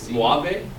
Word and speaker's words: Moivre: Moivre? Like suave? It's Moivre.